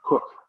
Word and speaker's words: Coke: famous english jurists is a man named edward cook spelled coke that's pronounced he was lloyd hart lord high chancellor